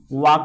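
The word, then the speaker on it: walk: टहलना पति वाक डब्ल्यू ए एल के एल इसमें साइलेंट होता है एल के वाक पढ़ा जाता है तो इसमें वाकिंग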